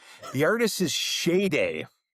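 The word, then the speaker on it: Sade: The artist is Shade. Um, I thought it was Shade or Shade, but it's pronounced Shade.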